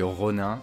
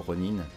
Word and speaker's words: Ronin: évidemment hockey y est revenu en tant que rooney voilà on le voit avec son sabre il revient en tant que rhône un run in peut-être j'ai peut-être une mauvaise prononciation plutôt ronin est ok donc ça c'était vachement supposé c'était